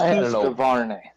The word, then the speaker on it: Husqvarna: It's Husqvarna.